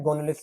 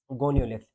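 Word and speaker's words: Gonyaulax: अब ये नाम लिखा हुआ है, गोनोलिक्स वगैरह भी देखेंगे क्या होता है, रुको, गोनियोलिक्स, स्पेलिंग शायद में गलत लिखी है, इसको मिटाना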